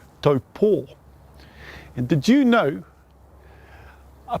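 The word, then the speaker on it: Taupō: Now, did you know taupo is actually correctly pronounced as in taupo with a Macron over the last O? Taupo.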